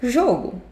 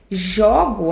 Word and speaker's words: jogo: Esse apenas jogo o jogo, o som do primeiro é aberto e o som do segundo é fechado.